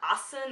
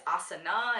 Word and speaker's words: asana: It's not yoga, it's yoga, it's not asan, it's asana, and it's not pranayama, it's pranayama, but I don't really think we pronounce the A all over India.